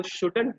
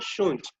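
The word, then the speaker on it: shouldn't: वैसे इसको शुडंट भी प्रोनाउंस करते हैं लोग, बट इट has gone a little old, वो थोड़ा सा पुराना हो गया है। तो what you can speak it, what you can pronounce it, शुंट। टी का हल्का सा साउंड पीछे से आना है एंड यू कैन से शुंट।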